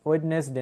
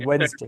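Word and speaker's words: Wednesday: যেমন আমরা বলি ওয়েডনেসডে না কি যেন বলি, ইটস অ্যাকচুয়ালি ওয়েডনেসডে, রাইট?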